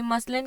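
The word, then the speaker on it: muslin: तो कंफ्यूज नहीं होना, क्योंकि मसलिन की ओरिजिनल प्रोनाउंसिएशन है मसलिन।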